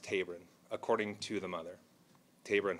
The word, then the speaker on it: Taberon: She expressed to us, and we said that we would pass along, that his name is pronounced Taberon, first name pronounced Taberon, according to the mother, Taberon Honie.